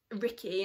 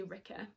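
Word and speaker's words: Rikke: daughter um and then ricky another one i i think it's actually ricker but i always say ricky because that's how i pronounce in my head is the dogman's daughter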